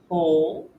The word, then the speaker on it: whole: For example, WH words where the W is silent include whole, who, and whose, where you hear the H sound.